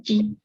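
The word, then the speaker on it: ち: de la sílaba ta. De la columna de ta. Ujú. Chi.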